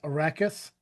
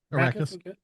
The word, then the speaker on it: Arrakis: The most important planet is Arrakis. A desert world Did I pronounce that right or is it Arrakis? Nope, you're right. Arrakis.